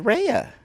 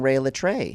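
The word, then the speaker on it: Rhea Litré: did I say but you said rehea oh did I say it wrong right I'm saying Ray L tray do you know what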